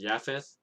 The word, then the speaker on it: Japheth: of shem ham and japheth it might be pronounced yaffeth but i'm just used to pronouncing it as japheth but anyway that's the